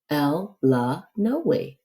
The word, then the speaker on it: Illinois: the Illinois State Line he pronounced Illinois l la no way exactly that way everyone in by vyx Kentucky pronounced it and hearing that Illinois